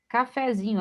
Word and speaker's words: cafezinho: Cafezinho, aqui tem um erro gravíssimo, né? Acento, ainda colocou acento grave, né? Acento agudo. E observe, café tem acento agudo, né? Cafezinho, a sílaba tônica é zi.